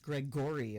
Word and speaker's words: Gregory: Playmate the always cheerful Gregory pronounced Greg Gorey of course she gave us mysterious